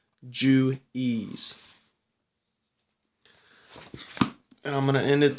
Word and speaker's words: Juwes: this is felt knowing known jointly as the jews je u w s pronounced Jew ease and I'm gonna end